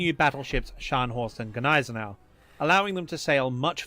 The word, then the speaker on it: Gneisenau: So yeah, and she always called it Gneisenau. I don't know. But the German correct pronunciation is Gneisenau.